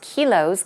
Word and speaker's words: kilos: The shortened form is kilos, K-I-L-O-S, and it's pronounced quite differently. We say kilograms, but when it's shortened like this, K-I-L-O-S, the I pronunciation becomes more of an E-E, a longer E sound.